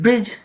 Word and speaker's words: bridge: In bridge, D is silent.